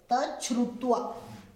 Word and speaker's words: तच्छ्रुत्वा: तत् प्लस श्रुत्वा, श्रुत्वा, श्रुत्वा में श है पहले, त को च और श को छ, श्रुत्वा। तो इसका उच्चारण करेंगे तच्छ्रुत्वा।